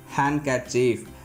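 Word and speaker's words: handkerchief: கீழ்காணும் பொதுவான வார்த்தைகளில் டி என்ற எழுத்துக்கு ஒலி வடிவம் இல்லை. ஸோ இந்த மாதிரியான காமன் வேர்ட்ஸ்க்கு டிக்கு ப்ரொனன்சியேஷன் கிடையாது. அந்த இடத்துல என்ன ஆயிடுதுங்க, டி சைலண்ட் ஆயிடுது. ஃபார் எக்ஸாம்பிள் பாருங்கள், வெட்னஸ்டே, ஹேண்ட்ஸம், ஹேண்ட்கர்ச்சீஃப், சாண்ட்விச் இந்த மாதிரி இதில் எல்லாமே நாம் என்ன பண்ண மாட்டோம், டியை ப்ரொனவுன்ஸ் பண்ண மாட்டோம்.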